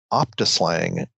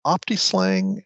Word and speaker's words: optiSLang: Am I pronouncing it right? I I can't Is it It's Optislang? Is that how they they say it? Yeah, that's the way I've always heard it. Some people say opta slang, but I think optang